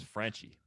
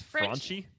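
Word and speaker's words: Franchy: raunchy he's like fraunchy i thought that was frenchy you think it's fraunchy i have no idea why i think it's crunchy yeah well if it's like i don't know why like a spanish pronunciation would be fraunchy right okay yeah that's why i think but if we're gonna anglify it it'd be franchie well anyway uh mr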